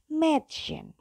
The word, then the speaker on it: Mädchen: Ingat kalau A ada titik 2-nya maka dia akan berubah menjadi E. Jadi Mädchen.